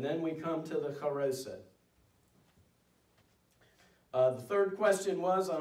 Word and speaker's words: charoset: Traditionally, we remember this task in a mixture called charoset, or some Jewish people pronounce it charosis.